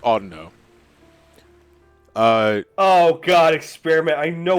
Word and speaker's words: Audino: pronouncing Pokemon incorrectly I I've said all Dino for years but apparently it's pronounced Audino oh god experiment I